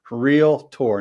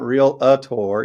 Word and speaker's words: realtor: do we pronounce r-e-a-l-t-o-r realtor real tour not real a tour you don't say Doc a tour uh and I know